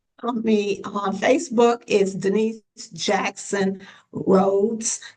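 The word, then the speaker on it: Dnice: Me on Facebook is Denise Jackson Roads. So, I spell my name a little different. My name is spelled D N I C E. So, Denise uh Jackson on Facebook.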